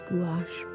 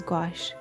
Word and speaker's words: gouache: looked it up and the word gouache comes from french and apparently in america we're supposed to pronounce this gouache but uh in british english it's gosh just because no um